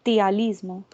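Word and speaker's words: ptialismo: Cialismo, cialorrea o tialismo. Se escribe PT, tialismo.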